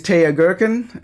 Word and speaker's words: Teja Gerken: want to start like that my name is TAA girkin and a lot of people wonder how to pronounce my name if they've only seen me